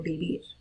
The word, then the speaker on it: vivir: A note about pronouncing this verb, vivir, it should sound like a B, right? That B and V in Spanish are the same phonetical sound, so vivir.